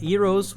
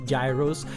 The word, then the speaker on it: gyros: And there are the famous gyros. They are the most famous of all. The nice thing is that it's cheap. Some people there call it euros. We read gyros.